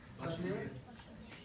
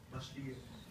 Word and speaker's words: Bachelier: Anybody can me pronounce that? Bachelier. Bachelier.